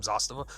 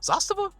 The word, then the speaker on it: Zastava: Like if I'm going to have one communist gun, it's going to be this M70, the ZPAP from Zastava. Zastava? Zastava? Emphasis on the syllable.